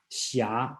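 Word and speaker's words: Xia: one called shia again this book spells a very strange spelling called h s i h something like that is the pronounce the correct spelling in today should be x i a shia okay that means knight's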